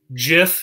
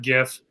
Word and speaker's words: GIF: with a soft g jiff is pronounced jif and not gif is this gymlet or